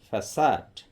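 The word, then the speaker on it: façade: এখানে সি এর উচ্চারণ খ না হয়ে স হচ্ছে, উচ্চারণটি হবে ফ্যাসাড।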